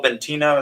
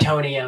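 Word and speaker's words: Bitonio: So we have Armstead, Andrew Thomas, Jason Kelsey, Quentin Nelson, Tristan Wirfs, Joel Bentino. Is that how you say it? Betonio.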